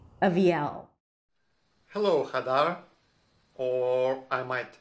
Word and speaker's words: Aviel: So I would do something like Aviel. So the first syllable is just going to be a schwa. The second syllable, a high E, avi. And then the primary stress, the longest syllable, is at the end, L with a dark L.